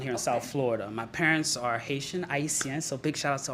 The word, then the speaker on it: Haiti: Haiti. Yeah. What's that? So Haiti. Good question. So whenever you hear the word Haiti, that's actually the correct pronunciation of Haiti. Is Haiti. IT.